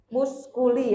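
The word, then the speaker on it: musculi: Kalau MM itu artinya muskuli ya membacanya.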